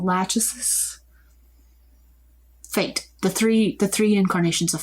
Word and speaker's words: Lachesis: With a Tan Skin is Lachesis. I'm pronouncing that wrong. Lachesis.